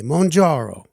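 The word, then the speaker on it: Mounjaro: member of the class that we pronounce in a very italian way monjaro yeah so you know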